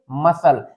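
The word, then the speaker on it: muscle: यहां पे एस आपको एक साथ मिला है। तो यहां यहां इसको हम रीड करेंगे मसल। नेक्स्ट है कनफाइन।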